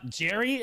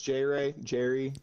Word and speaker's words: Jr3y: Jerry, am I saying it right? Jerry? That Jerry. I go by many names. All right. Well, all right. So my name's J Ray. J Ray. Oh. Either works.